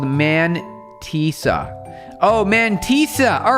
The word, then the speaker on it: mantissa: So pronounce mantissa. The A is not an E. It sounds an A.